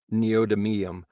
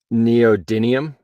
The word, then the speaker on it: neodymium: a definition for us macronomicon um the neodium is spelled n-e-o-d-y-m-i-u-m neodymium uh Neo Diamond dimium uh neodymium neodymium magnets